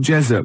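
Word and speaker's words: Jezoc: Um, who said, "Can we hear more about Jezuk?"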